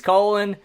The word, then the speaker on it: Colin: that's different that is because colin powell he's like he's spelled colin but he's colon and like but i